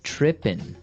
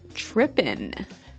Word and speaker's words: tripping: So they started talking about girls and he mentioned that this girl started tripping. Tripping. Tripping. So to trip, right? As you notice, it's tripping. It doesn't have the G at the end, which isn't really grammatically correct, but that's kind of the way it's pronounced.